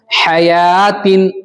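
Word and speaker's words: حيوة: उसके बाद हयातिन, यहां पर भी या खड़ा ज़बर या के बाद वाव पर क्या क्रॉस का निशान है, जिसकी वजह से वाव नहीं पढ़ा जाएगा, साइलेंट।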